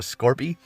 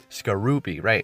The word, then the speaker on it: Skorupi: Yeah, I was calling it, Scorpy? Skorupi. Right.